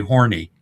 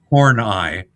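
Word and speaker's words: Horneigh: So it's really horny, but it's pronounced horn eyee.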